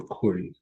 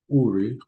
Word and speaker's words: Uri: See, I have called by name Betsalale, the son of Uri or Kuri? Uri. Okay. Meaning fiery, and this name means shadow. Um, say I've called by name uh, Betsalale, and the son of Uri, the son of Hur, that might be Ker.